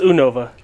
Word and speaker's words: Unova: It's Unova.